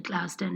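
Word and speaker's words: Tl'azt'en: I'm from the Tlasden Nation. Can you spell it?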